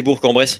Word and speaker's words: Bourg-en-Bresse: donc il claque c'est à bourg-en-bresse il faut prononcer bourg-en-bresse de 10,2 pas bourg-en-bresse ou bourg-en-bresse les gens